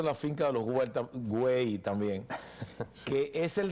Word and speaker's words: Güell: Voy al parque, estuve en el Parque Güell, no es Güell. El catalán, la doble L, allá la pronuncia como si fuera una Y.